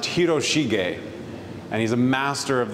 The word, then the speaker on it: Hiroshige: the Edo period named his last name is pronounced hiroshige and he's a master of the Japanese wood